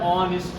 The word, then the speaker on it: honest: a honest man am honest man because H is a silent letter and the next sound